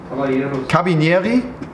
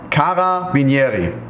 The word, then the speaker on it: Carabinieri: Wird das ausgesprochen? Caba... Caba... Cabinieri? Caba... Cabinieri ist ein Minisalat. Jetzt haben wir es. Carabinieri.